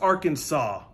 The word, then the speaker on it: Arkansas: a chalkboard what am i singing no it's pronounced arkansas okay i would know i'm from benton i